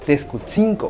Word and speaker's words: Texcotzinco: lengua náhuatl y es Texcotzinco. A este lugar también se le llama Texcotzingo con G al final, pero desde la variante de nuestra región el sonido de la letra G no es parte de los sonidos de la lengua náhuatl.